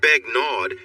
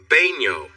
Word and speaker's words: Begnaud: It's not Begnaud, it's pronounced Baigno. The D? It's silent.